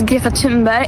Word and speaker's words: Greta Thunberg: My name is Ga Timber and I am from Sweden. Well, firstly, we've all been saying it wrong.